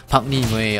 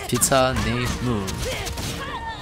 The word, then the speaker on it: PtahKneMue: It's not PM way or PKM. It's pizza nuation.